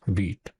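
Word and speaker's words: Vite: Okay, so this is how you pronounce vit.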